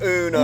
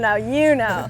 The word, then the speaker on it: Uno: Uno, yeah. not Uno. No, no, Uno. Yeah, that's it.